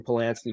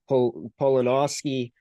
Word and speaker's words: Polanowski: Calix Monkman and Austin Polanski? Because those two guys, Monkman, only player on the team that's over a point per game, Polanowski, that's my apologies there again. That's how you pronounce his name.